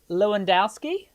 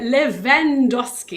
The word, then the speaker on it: Lewandoski: And uh yeah, it's got the the W is pronounced V.